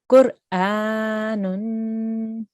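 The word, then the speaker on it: قرآن: Make sure you pronounce the ra here. Qur. Qur. Qur. Qur. Very good. Qur'anun.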